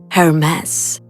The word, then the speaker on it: Hermes: And you've probably already heard of this name, but in the French pronunciation, Hermes, the name of the famous French bags.